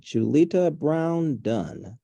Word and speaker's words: Julita Brown-Dunn: I've got Julita Brown Dunn. Did I pronounce that right?